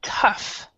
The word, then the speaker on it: tough: Then we have this one, which is tough.